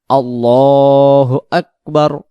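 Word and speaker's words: الله أكبر: আল্লাহু আকবার না তাহলে এইখানে লাম অক্ষরটাকে আমরা এক আলিফ টান দিব আল্লাহু আকবার আল্লাহ আল্লাহ উচ্চারণ হবে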